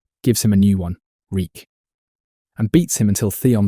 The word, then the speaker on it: Reek: Reek. I'm Reek. It rhymes with weak.